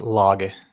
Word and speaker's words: Lage: Turbo repo, Bazel, um Lage, Rush, uh It's actually pronounced loge. It's a Norwegian word.